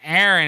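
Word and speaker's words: Eireann: dated a girl named aaron and her her name was in gaelic so it was e-i-r-e-a-n-n instead of e-r-i-n it was aaron it was so hard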